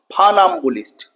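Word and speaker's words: funambulist: টি ফাম্ব বুলিস্ট ফা এফ ইউ এর উচ্চারণ কিন্তু ফু হবে না ফা ফাম্বুলিস্ট ওকে ফানাবো কে ওয়ান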